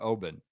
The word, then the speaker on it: Oban: us with uh pronun audio pronunciation guides Oban Oban it's Obin Obin well Big Shot Bob